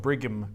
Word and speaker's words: Brigham: And it's spelled Brigham, like as in Brig Ham.